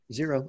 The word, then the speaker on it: Xero: Yeah, Xero. Oh, that's spelled with an X, but it said Xero Shoes.